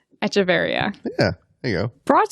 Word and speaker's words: Echeverria: I wrote it there, and I never thought about how to pronounce that. Echeverria. Echeverria.